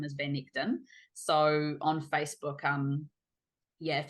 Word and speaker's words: Van Echten: So Van and then Echten. It's a Dutch last name and it's my husband's last name, Van Echten, if you want to pronounce it properly.